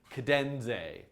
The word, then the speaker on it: Cadenze: am pretty sure that the way that you pronounce it is cadenze cadenz a like cadenz and the letter a cadenze cadenze somebody tweet